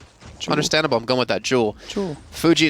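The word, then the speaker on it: Joule: uh explained how to say this hero's name jewel like El like jees oh jeel I always I always thought it's Joel oh I'm sorry do does use electricity too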